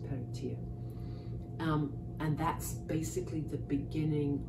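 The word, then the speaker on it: Peredur: Peritir, who, of course, it's spelt Peritur, but it's pronounced Peritir.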